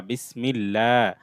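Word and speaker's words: بسم الله: বাসিন যে বিস, মিম লাম জের মিল, বিসমিল, লাম খাড়া জবর লা, বিসমিল্লাহ। এটা আল্লাহ শব্দ, এটার পূর্বে জের আছে, সেজন্য এটা লা হবে।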